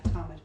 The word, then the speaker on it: Talmud: Talmud, Yes. is that how you say it? Yeah, Talmud.